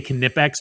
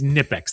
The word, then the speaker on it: Knipex: I'm not going to say Knipex, no matter if you tell me that it's how they pronounce it or not. It's Nipex. The K is silent.